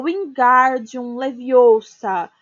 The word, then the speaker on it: wingardium leviosa: viu Hermione corrigir aborrecida é o wingardium leviosa o galera é bem pronunciado e longo você diz você então